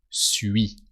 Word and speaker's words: suis: But for I am, when you want to say I am, the am in French is suis. So U and then I. U, I. That merge together. Ui.